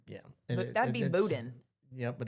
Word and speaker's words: boudin: school, eat emu burgers with our alligator and boudin. Spell boudin. B. Mm-hmm. O. Mm-hmm. U. Yes. D-A-N. I-N. I-N. Okay. Boudin. Yeah. That'd be boudin. Yeah, but it's pronounced boudin, and it is so good.